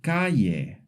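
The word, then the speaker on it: calle: In most places, it makes a sound similar to the English Y in yes. For example, yamar to call yave key and cay street.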